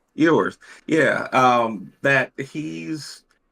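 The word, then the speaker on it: Quinn Ewers: I think because of the quarterback situation, I'm still of the opinion that that your Quinn Ewer, is that how you pronounce his Quinn name? Ewers, Ewer? yeah, Ewers.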